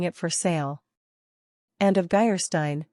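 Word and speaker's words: Geierstein: for sale end of geyerstein pronounced jerstein or the maiden of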